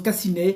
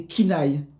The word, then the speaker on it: Kina: Kina il y en a qui qui prononce Cassine comme Amélie ça fait rire quand elle prononce comm Cassine mais c'est Kina Yannick à l'envers en fait.